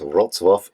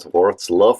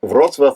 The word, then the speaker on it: Wrocław: of this year's conferencing final is of course Roswaf in Poland. And yes, that's how you pronounce it, not WZluff or whatever. In German, we say Brazla, but I want to stick with the name Rozswaf. Roswaf itself has a very colorful history, having been